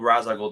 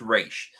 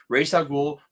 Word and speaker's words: Ra's al Ghul: I hated the whole Ra's al Ghul. No, it's Raish. Ra's al Ghul.